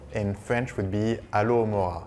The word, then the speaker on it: Alohomora: So the second spell in French would be Alohomora. Alohomora. Because we don't say H in French.